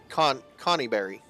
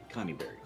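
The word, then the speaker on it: Conyberry: She told you it was uh in conny berry. Connieberry. Okay. Is that literally spelled like Connie Berry?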